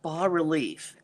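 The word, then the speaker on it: bas-relief: painting and the technique would be called B relief and that's spelled b a s relief and what it means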